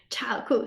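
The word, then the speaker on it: 超酷: 超酷 chāokù, super cool. Super cool. Interesting. Yes. Actually, we know that 超酷, you can understand it as a word. It's a two-syllable word.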